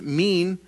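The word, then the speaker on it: מין: I in is the best way but it's pronounced mean is used 31 times in the Old Testament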